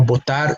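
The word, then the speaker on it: votar: Now, those are two different verbs that are pronounced exactly the same, and the only difference is their spelling. The initial letter for one is V, the initial letter for the other one is B, but we pronounce it the same.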